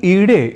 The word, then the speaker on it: ईडे: यानी अग्नि सूक्त यदि हम पढ़ रहे हो तो हमें अग्निमीडे पुरोहितम को अग्निमीडे पुरोहितम यानी ईडे इस रूप में ही उच्चारण करना चाहिए, और यह ही वैदिक